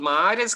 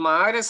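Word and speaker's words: Maar: Sí, los mahares, que es una palabra, mahar se escribe con doble A para que no confunda el público. Con doble A es un término alemán que significa lago volcánico, con doble A, o sea, mahar.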